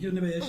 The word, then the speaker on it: Yonebayashi: prononcer. Vas-y. Oui, donc Yonebayashi.